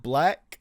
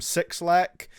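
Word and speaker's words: 6LACK: 8701 featuring, I believe you say his name like Black. I used to always call him Six Lack, but I've heard, I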